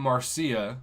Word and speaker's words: Marcia: I had a student named Marcia. She was from Spain, and that's how she wanted me to pronounce this, Marcia.